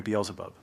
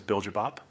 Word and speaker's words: Beelzebub: It is a direct bloodline descendant of the legendary Beelzebub. Back in Korea, we mispronounce it as Biljabop.